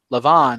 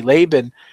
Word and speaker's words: Laban: Or take another example would be Jacob and Lavan, however you want to pronounce it, whether you pronounce it with a V or a B. Laban, he like it says, he stayed honest.